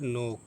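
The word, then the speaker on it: knock: ये है नोक। तो ये के के बाद एन है तो के नहीं पढ़ा जाएगा। के का तलफुज नहीं होगा। यह नो हो गया।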